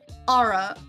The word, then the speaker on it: ARA: they have a program called the Aura plugin, which is spelled ARA.